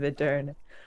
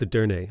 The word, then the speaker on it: Edirne: You need to pronounce the E at the end, so it's Edirne. Okay. Why doesn't he have walls in here? Would you not build walls in Edirne?